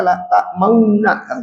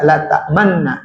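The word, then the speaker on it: لا تأمنا: Makanya di sini dibacanya la ta'mauna, tidak dibaca la ta'manna gitu ya, walaupun tulisannya la ta'manna.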